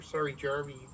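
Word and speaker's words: Saarijärvi: One of the guys that we've talked about before, Vili Saarjärvi, or Saarjärvi is the way you pronounce it, right?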